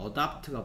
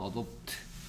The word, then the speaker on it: adopt: 아, adapt가 보이는데 adapt. adopt. 영국식 발음은 adopt. 미국식 발음은 adapt.